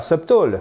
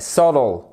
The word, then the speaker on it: subtle: Non, non, c'est pas subtle, c'est subtle. C'est pas du tout la même chose.